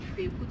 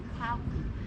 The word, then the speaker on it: Kweku: And after he was ordained, they baptized him and gave him a Christian name Philip, then mispronounced the local name Kweku to Kwaku, making it Philip Kwaku.